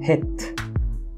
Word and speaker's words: het: Se escribía de esta manera y de hecho se pronunciaba het, que significaba algo así como cerrado, principalmente por la figura en la que ya se le escribía desde aquel entonces.